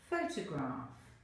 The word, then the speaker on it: photograph: For example, photograph. Then, ask the student to place a smaller rod on the stressed syllable and pronounce the word.